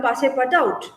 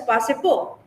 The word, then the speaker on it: Passepartout: you can call him Passepartout, okay? Because it's a French name, it can be pronounced as Passepo, but we can call him as Passepartout, as it is as he is spelled there.